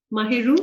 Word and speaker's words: Mahiru: Is that the right pronunciation? Mahiru? Absolutely. Yeah, Yes, as ma'am.